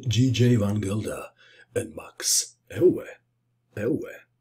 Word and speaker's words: Euwe: van Gilda and Max el el is a Dutch way of pronouncing Max's surname so I was told